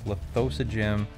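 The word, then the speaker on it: Lithosagym: king listogram lithosa gym I always I've always been told I've said it wrong it's lithosa gym but I would say lithogram because that is better all right don't don't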